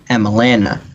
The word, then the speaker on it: Emelana: It rhymes with banana. Emelana.